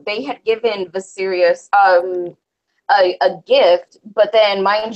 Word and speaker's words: Viserys: On how they feel about Viserys, or that's how you pronounce his name, right? Viserys.